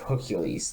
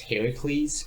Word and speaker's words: Heracles: In the Greek version, which the story of Hercules, the movie, is based off of, it's actually supposed to be pronounced Heracles, while it's the Roman version that's called Hercules that most people go by.